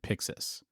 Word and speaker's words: Pyxis: Yeah, I mean, so it's spelled PYXIS, and they have it in capitals. So you're probably supposed to shout it, but I mean, when I see it, I pronounce it Pixis.